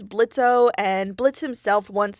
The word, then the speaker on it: Blitzø: O in his name I'm still not 100% convinced the O is silent I mean his dad says blitzo and Blitz himself once